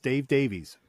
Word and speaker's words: Dave Davies: Kinks guitarist Dave Davies.